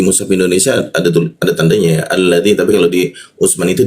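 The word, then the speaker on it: الذي: Utsman itu tidak ada cara membacanya alif bertemu lam itu selalu dibaca al dia al masuk ke bawah hidung dia. Alladzi dzi ujung lidah digigit dia dzi nah bertemu ya ya di tengah lidah jadi huruf dzya dibaca agak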